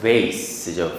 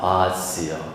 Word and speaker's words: vase: 자, 꽃병이 미국식 발음은 vase죠, vase. 근데 영국식 발음은 vase입니다. vase요.